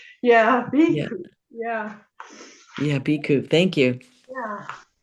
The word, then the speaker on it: Bhikkhu: so I'm happy to know how to pronounce Bhikhu. Bhikkhu. Iku. Bhikkhu.